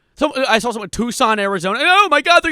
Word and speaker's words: Tucson: I saw someone in Tucson, Arizona. Oh my god, they're going to get me in Tucson. I called I pronounced your Tuxen the other day. My mom had to correct me.